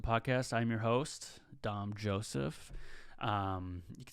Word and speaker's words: Dom Joseph: um so welcome to the new episode of dom joseph podcast i'm your host dom joseph um you can spell that d-o-m-j-o-s-e-p-h if you guys were confused on